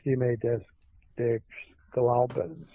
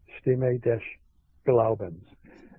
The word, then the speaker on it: Stimme des Glaubens: German magazine, and I'm going to try to pronounce it, Stimme des Glaubens, S-T-I-M-M-E, for those who want to research it. D-E-S is the next word, G-L-A-U-B-E-N-S, Stimme des Glaubens, reported in this German magazine the discussion between